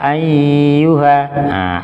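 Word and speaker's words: أيها: Qul ya ayyuha. Ay dia bertasdidnya itu ditahan, itu salah. Nah, sehingga cukup ditekan saja tanpa ditahan.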